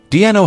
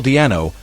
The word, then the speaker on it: Di'Anno: Baiano nickname a pun/joke, for his name, Paul Diano, is pronounced in a similar way to the nickname above.